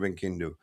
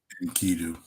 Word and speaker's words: Enkidu: Epic of Gilgamesh, creation of Enkindu. Ink, I keep saying it wrong. Um, Inkidu, Inkidu, right?